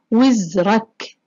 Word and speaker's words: وزرك: الكلمة الأولى كلمة وزرك، ننتبه للتشكيل، تحت حرف الواو يوجد لدينا كسرة. وزرك.